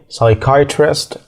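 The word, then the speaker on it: psychiatrist: المقطع اللي هو بي اس واي ده مش بننطق في حرف البي خالص كلمات زي سايكولوجي سايكيترست اكيد سمعت كلمه سايكو فكل الكلمات ديتي مش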